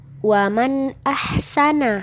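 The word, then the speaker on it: وَمَنْ أَحْسَنُ: huruf hamzah ini Aduh jadi cara membacanya ini waman ahsanu nah waman ahsanu jadi bacanya jelas ya waman ahsanu Nah seperti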